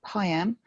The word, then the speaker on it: PIAM: Information Assessment Meeting, or PIAM. Family solicitors will recognise that it rhymes with MIAM, and that's because it starts off with the mediator, or so we think.